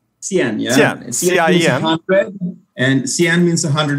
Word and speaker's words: Cien: So you're CEO, founder of, and you pronounce it Cien? Cien.